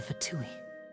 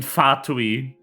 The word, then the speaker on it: Fatui: I do not know where the fucking English dub gets of pronouncing, stressing the second syllable in Fatui.